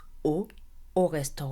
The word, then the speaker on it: au: is Mas a is O which means to the restaurant the pronunciation is the same it's O like the letter O however you pronounce it